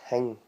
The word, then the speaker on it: thing: But if you're going to say it, it's hing. So it's Hing. Best way to say it phonetically.